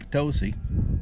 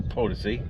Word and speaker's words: Potosi: Lombard's plane crashed into Mount Potosi, or Potosi, depending on your pronunciation.